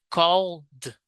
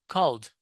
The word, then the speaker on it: called: It's almost not pronounced you know it's very subtle.